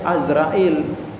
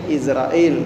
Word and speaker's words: Azrail: Malaikat Izrail atau Azrail, kalau di kalangan di kitab-kitab itu kita bacanya Azrail. Nah, begitu di Indonesia udah sebutnya sering Izrail gitu.